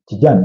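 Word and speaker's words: Tijjani: And then remember, we've spoken about Tijan Reinders, or there was some may choose to pronounce it Tijan, but it's Tijan Reinders from AC Milan, who they are trying to pursue.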